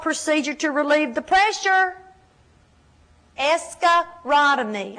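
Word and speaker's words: escharotomy: to relieve the pressure escarotomy I'll spell it escarotomy e s c h a r o t o m y now in a minute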